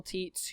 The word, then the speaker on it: Tietz: It's Tietz, right? Did I say it wrong? Yeah, you said it right.